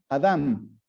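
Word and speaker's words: אדם: un propósito es cierto adam viene de una palabra en hebreo que se pronuncia adam que adam y que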